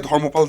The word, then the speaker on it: Dharmapala: I am going to say dhmopal. That is the way uh Bengali will pronounce it and so will I.